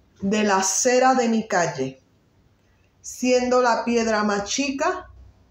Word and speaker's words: calle: Siendo la piedra más chica, ay de la acera de mi calle.